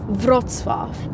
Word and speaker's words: Wrocław: I can't remember how to pronounce the name. What do we call it? Wrocław.